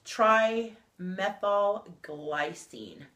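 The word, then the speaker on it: trimethylglycine: called TMG and um it's triy methyl glycine is how it's pronounced but for sure and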